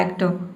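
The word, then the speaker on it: actor: इसमें जो आधा र का साउंड है इसको आपको क्या करना है, साइलेंट रखना है, प्रोनाउंस नहीं करना है, तो आपका प्रोनाउंसिएशन सही होगा।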